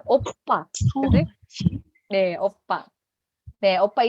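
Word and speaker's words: 오빠: Oke, tidak ada yang membacanya opa lagi ya. P-nya harus lebih ditekan jadinya oppa.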